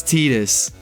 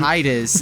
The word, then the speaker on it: Tidus: Titus is like Titus Tidus- sounds weird to me. Tidus is how you say his name in freaking Final Fantasy X, where he comes Oh, from.